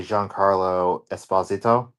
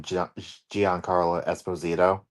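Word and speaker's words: Giancarlo Esposito: in this yes Sidewinder is being played by Jean Carlo Esposito okay which Apparently that is the correct pronunciation of his name because everyone calls him Gian Carlo Esposito okay um so this could be great I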